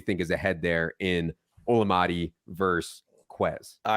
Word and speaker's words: Olamide: like the edible day it's like oh it's llama day so wow I have never heard it said like that before it's olamide Zacchaeus okay um but